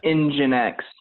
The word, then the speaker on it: nginx: how it connects nginx it's pronounced it's like engine like a car engine but its engine X yeah engine X is